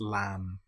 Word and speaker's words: lamb: Here we don't pronounce the B. We don't say lamb. It's just lamb or comb.